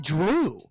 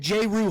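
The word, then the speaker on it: Jrue: not Drew that's Drew J that is not drew that is J Ru that's how you spell it first off the fact that I just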